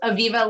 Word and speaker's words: Aviva: Yes, Aviva, like Viva Las Vegas.